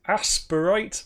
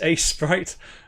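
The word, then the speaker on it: Aseprite: interesting i have here i call this asperite but i think it's a sprite is how it should be pronounced and i think this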